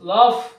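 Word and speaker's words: laugh: ইউ জি H calf অর্থাৎ এই জি H letter দুটি যখন ওয়ার্ডের শেষে থাকছে এবং জি এইচ মিলে যেখানে বাংলা ফ এর মত উচ্চারণ হচ্ছে সেখানে এই সাউন্ডটা উচ্চ থাকছে না তো এই বিষয়টা মাথায়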